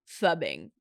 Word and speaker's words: phubbing: likely to get into phubbing. And phubbing is spelled like, so P-H-U. Phone snubbing? I think that's basically what it is. Phone it's snubbing. It's not like flubbing. It's not flubbing. There's no L.